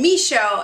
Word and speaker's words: Michaud: Maude, and Michaud. It's like show, like, oh, it's the me show. Show me, me show.